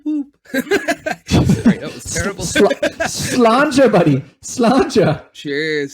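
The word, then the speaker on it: sláinte: Slanja, buddy. Slanja. Cheers. Slanja. Is that how you say it? Slanja. Okay. I thought I remembered how to say it properly. As long as it's not slanty. Yeah, no, definitely not.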